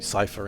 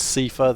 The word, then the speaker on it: Seifer: I'm not even I don't even care what people call me cipher anymore. I've had it enough. It It is CIFA. That's how it's pronounced.